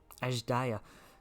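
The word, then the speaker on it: Azdaja: Ajdaya. That's how you pronounce it, okay.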